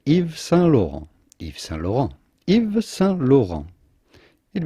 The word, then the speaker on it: Yves Saint Laurent: saint laurent himself iv so again the t's here at the end of sun and lore are silent so do not say eves saint laurent the s of evie is also silent so say if salon if the saint laurent